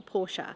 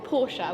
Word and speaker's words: Porsche: sales manager here, or Porsche. We were just having a debate on how you say it. We're both Porsche, but apparently we're meant to say Porsche, so maybe we should say Porsche.